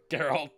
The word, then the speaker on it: Geralt: Geralt or Gerald? How do you say it? Geralt.